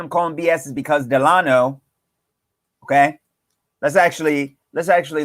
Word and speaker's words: Delano: eleanor you all know it's eleanor it's eleanor delano delano delano delano delano not delane nor that's not people said it people said